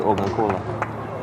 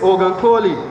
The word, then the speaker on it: Ogunkola: Goodness Ogunkola. Number 10, Goodness Ogunkoli. Kola. How you not see a whole A there?